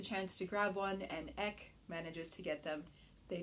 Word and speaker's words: Eck: now the designer says it's pronounced ek like deck without the d but i can't help